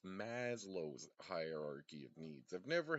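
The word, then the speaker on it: Maslow: I thought it was LLO's hierarchy of needs because of the Cartoon Network show. the lazlo's friends and crap, but it's Maslo's hierarchy of needs.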